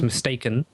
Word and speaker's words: Mystakin: So okay, now I got it, because it's like mistake. We would say like mistaken in England. So I'm just learning. So it's mistaken, like that.